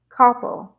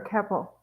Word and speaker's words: Koeppel: Her name is Chelsea Koppel, or Koppel, I believe, or Keppel. Depends on, it's Koeppel. So it depends on if you pronounce the O or not.